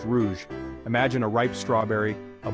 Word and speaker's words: rouge: that's right it's red in French we say Rouge pronounced Rouge imagine a ripe strawberry a blooming rose or